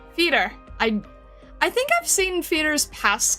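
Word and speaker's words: Feater: I say feeder, not feeder.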